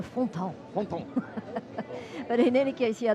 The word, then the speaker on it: Fontan: Frédéric Fontan. He's not a Fontaine. He's a Fontan.